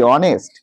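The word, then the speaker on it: honest: যদি সেই শব্দটার শুরুতে উচ্চারণটা মেন এখানে উচ্চারণটা উচ্চারণটা ধর আমি একটা শব্দ লিখলাম এইচ ও এনই এসটি অনেস্ট আরেকটা লিখলাম এই ও এনই ওয়াই দেখো দুটোরই শব্দের শুরুতে এইচ আছে।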